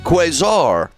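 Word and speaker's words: quasar: Keska Ks quazar. Okay, let's look at noun in the US pronounced like this.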